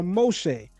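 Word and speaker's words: משה: Note the colam vowel dot above the top left of the mem. That's this right here. And it and pronounce o and the shin dot on top of the right leg of the shin making it sh instead of s as well as a seigull vowel. Three dots under the shin making an e sound. So in pronouncing it we get Moheay or Moshe.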